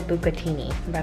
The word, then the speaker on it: bucatini: going I don't know how to say it pronounced something I said I said bucatini that's right that's right you could team something